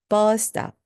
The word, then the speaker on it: bus stop: 이때 S가 두 개 보이시죠? 버스 스탑. 그래도 영어에서는요. 두 번 똑같은 자음이 나와도 한 번만 뒤에 것만 발음합니다. 그래서 bus stop이 됩니다. bus stop, bus stop.